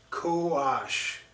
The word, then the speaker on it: Kox: sauce this is uh it's pronounced cowash meaning savage or wild in the mayan says this intense sauce